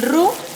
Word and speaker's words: roux: mantequilla queda perfectamente bien el ruc se escribe roux con equis y es un este